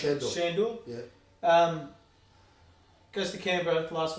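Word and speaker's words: Sandor: How do you pronounce it? Shandor.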